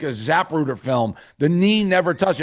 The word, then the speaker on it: Zapruder: So Zapruder film is a wild. I haven't had. That's a good. That's a new Davey pronunciation. The Zapruder film. What is it called? It's Zapruder.